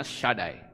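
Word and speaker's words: שדי: saudara lihat di itu ada tulisan Sin dalet itu membacanya shadai atau kadangkala cuma ditulis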